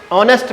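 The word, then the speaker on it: honest: मैंने पहले ब्रीफ किया बच्चों आपको कि ऑनेस्ट में हमारा क्या रहता है, आज साइलेंट रहता है। क्या रहता है, आज साइलेंट रहता है। इसको क्या पढ़ते हैं, ऑनेस्ट पढ़ते हैं।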